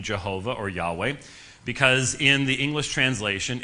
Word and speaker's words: Yahweh: There is almost no chance whatsoever uh that Jehovah was the uh original pronunciation What's called the Divine name uh most Scholars would say that the Divine name was pronounced Yahweh and in the Hebrew it's called the tetragrammaton